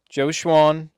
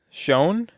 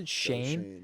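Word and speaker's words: Schoen: We got the new regime, Joe Schwan, and Joe Schwan. Shane. Shane. Shane. It's all right, That's how you pronounce it. Joe Shane.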